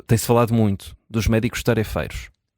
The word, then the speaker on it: tarefeiros: E a e a Vanessa pergunta se não deveríamos dizer tarifeiros, tendo em conta que a sílaba tónica é o fei e não eh e não aquela a sílaba anterior.